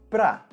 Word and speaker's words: para: Você pode notar que eu pronunciei a palavra "para" como simplesmente "pra". E informalmente, de maneira oral, é exatamente assim que nós pronunciamos essa palavra. Cortamos o som da primeira letra A e dizemos simplesmente "pra".